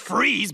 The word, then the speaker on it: Fries: It's freeze, but you spell it fries, like French fries. Weird. It's German.